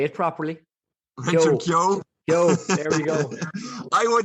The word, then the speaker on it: Keogh: Keogh, there we go.